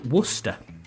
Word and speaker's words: Worcester: said it right Wester no it's it's Worster Worcester that's what I said yeah like like the sauce Worcester yeah Worcester sauce